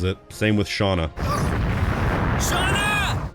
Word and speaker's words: Shana: So, I'm pronouncing it the way the game pronounces it. Same with Shauna. Shauna.